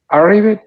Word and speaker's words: arrive: Arrived. No. Arrive, como si hubiera una I. Arrive. Y termina con una F. Arrive, arrived.